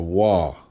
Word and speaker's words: Waw: It says a Wa. Where's your V at? Let's go to Phoenician, Punic, which we know that this script, what people like to say is what Paleo-Hebrew is Phoenician. There's your Wa. I'm still not seeing a V.